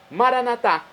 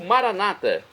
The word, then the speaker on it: Maranata: e agora eu clamo maranat como falamos nós católicos ou Maranata como dizem nossos irmãos separados evangélicos ou protestantes não importa pronúncia o significado é o